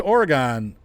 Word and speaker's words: Oregon: Oh, it's closed off, but welcome to Oregon. It's Oregon. Come on. G-O-N. Gone. I don't say Gendola. I say gondola. How about octagon? We say octagon? No, we say octagon. It's Oregon, not Oregon.